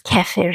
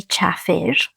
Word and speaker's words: kefir: It is known as kefir here, but we say chafir, and it's just a difference in pronunciation there, which is something